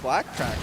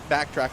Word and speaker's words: Backtrack: Backtrack, I should say. I got in trouble in the past. He actually DM'd me. It's like, yo, you're getting my name wrong. It's back. There's no L there, and I had to